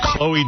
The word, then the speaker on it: Chloe: Ch LE is always pronounced Chloe, though. You should know that.